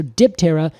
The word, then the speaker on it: Diptera: So Diptera means 2 wings, and that is Diptera. Interesting. Yeah, well, we just pronounce it with the P.